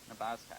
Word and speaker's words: Nabaztag: The Nabaztag? Nabaztag. That's correct. All right. Everybody will butcher the name, but everybody will have one as well, I'm sure.